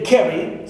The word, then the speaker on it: carry: For example, I have the words carry, as you see here, carry. So ca is stressed, right? Pronounced with more energy, more force, and also more prominence.